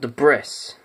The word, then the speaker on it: Debris: Little fun fact, when my friends first saw this, we thought it was called Debris. It's when our older brothers told us, actually, it's pronounced Debris. Why does it have an S in it?